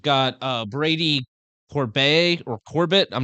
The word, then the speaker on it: Corbet: okay next we've got uh Brady Corb or Corbett I'm not sure how to pronounce that last name it's Corb Corb for the brutalist so we haven't seen